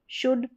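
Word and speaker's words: should: जैसे ये देखिए कुड, शुड, वुड, ठीक है, अब इसमें जो है ऊ का साउंड शॉर्ट आ रहा है।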